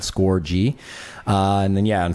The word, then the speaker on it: Scorgie: hence the hockey and that's also the pronunciation of my name because people say score and stuff like that score G uh and then yeah